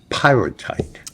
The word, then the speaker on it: Pyrrhotite: Pyrrhotite. Yeah. I'm glad you said it because I couldn't pronounce it.